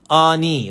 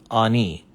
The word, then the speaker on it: Ani: the transliteration first so his name is ah right and he has two y's like that so ani that's his name and we say in english on e his name is written